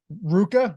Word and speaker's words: RVCA: This black, Jordan told me that it's Ruka, right? That's how it's actually pronounced, right? Not RVCA.